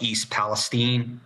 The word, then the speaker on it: East Palestine: that horrible chemical spill in this town called East Palestine. That's how they pronounce it here.